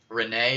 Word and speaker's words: Renee: Renee is how you say it, Lamau.